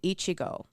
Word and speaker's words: Echigo: take their lands in Ichigo. I feel like I'm pronouncing that weird because it's spelled Echigo, and I'm like, I know Ichigo.